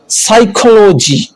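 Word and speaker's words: psychology: silent कब होता है एस से पहले आने वाला प साइलेंट होता है जैसे साइकोलॉजी और बहुत सारे वर्ड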